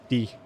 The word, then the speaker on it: dire: Only the E. Qu'est-ce que ça veut dire? I mean, in most words, bar like a couple exceptions, only the last letter is silent.